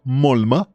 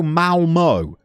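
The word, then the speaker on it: Malmö: You support Mulma. Eh? Most people would go Malmo.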